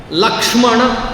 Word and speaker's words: Lakshmana: Similarly, in this bhasha, Lakshmana, you have to twist your tongue to pronounce that Kshmana.